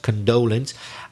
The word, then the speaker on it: condolence: two things there first the pronunciation of condolence it's the second syllable which is stressed condolence and we don't use